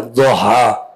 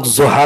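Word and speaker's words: الضحى: دعاد ادا ہوتا ہے دوہا۔ اردو میں عام طور پر لوگ زہا کہہ دیتے ہیں لیکن اس کا تلفظ ہے دوہا، وضحا، لیکن وضحا نہیں ہے، دال نہیں ہے یہ، اس کا تلفظ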